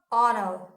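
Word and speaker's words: honour: An honest man, एन एयर, एन ऑनर, ऑनर, एन ऑनरेबल मैन, है ना।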